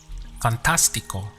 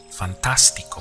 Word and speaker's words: fantástico: The word for fantastic in Spanish is fantástico. Notice the accent over the A. This is the point where you have to stress. So we get fantástico. Fantástico.